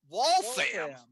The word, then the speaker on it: Waltham: that in waltham how do you say that wallfam okay i think we had wallfam misspelling there